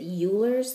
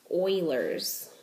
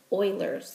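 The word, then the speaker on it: Euler: I've always pronounced it ul's theorem but I looked it up and it actually is pronounced Oilers theorem so I'm going to do my best to pronounce it correctly Oilers theorem so the number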